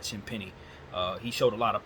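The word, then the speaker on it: Champagnie: Champagne showed a lot of pop in the or Champagny, I think is how you say that, Champagny.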